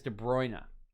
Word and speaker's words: De Bruyne: to figure it out sounds like it is de bruyne and here is de bruyne standing over this one with mares it is de bruyne clipping this one in